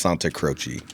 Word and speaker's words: Santacroce: So I'm Italian, but I'm out here in Kansas. So Santacroce, or if you want to get legit, it's Santacroce. Santacroce.